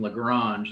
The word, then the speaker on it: Lagrange: Another great mathematician named Lagrange, that's how you pronounce his name, described him as the greatest genius who ever lived.